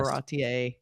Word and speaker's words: Baratie: is only the first half of the yes, Baratier look, I said it right.